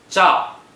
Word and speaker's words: 兆: Zhao is the 4th tone. Please pronounce it after me. Zhao.